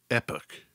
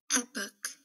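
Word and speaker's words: Époque: War I in 1914 in the US and Canada most commonly pronounced epic listen to this yeah epic I stand corrected epic Belle epic this is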